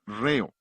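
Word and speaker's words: ῥέω: Es la palabra griega reo. rh e o. La H es el acento en griego, por eso acentuamos la primera sílaba de la palabra ritmo.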